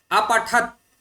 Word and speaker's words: अपठत्: अत्र एवमस्ति यत् अपठत् इति अस्ति सर्वप्रथमम्। अपठत् तकार हलन्त, किन्तु मध्यमपुरुषस्य बहुवचने हलन्त नास्ति। अतः एतस्य उच्चारणं किञ्चित् भिन्नं। प्रथमपुरुषस्य एकवचनस्य उच्चारणं भिन्नम्। अपठत् तकार मध्ये साक्षात् विरामः स्वीकरणीयः।